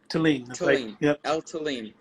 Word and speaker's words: Thelin: name uh talin talin it's swedish it's sweetie so it's like that's why the swedes make it with the t-h-e-l-i-n but they can't pronounce the h try to ask us